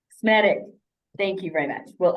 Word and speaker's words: Smetak: Remind me how to pronounce it correctly. Smetak. Smetak.